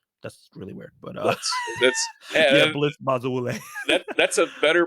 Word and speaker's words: Bazawule: That's really weird, but Blitz Bazawule. That's a better pronunciation than I was doing.